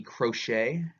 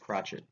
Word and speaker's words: crotchet: They don't say, I was tempted to call that the crochet, but I think it's actually pronounced crotchet.